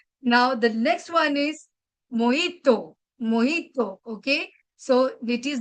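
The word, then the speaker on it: mojito: exactly mispronounced by us because J is almost silent so we got to say moto so I have One glass of moito please.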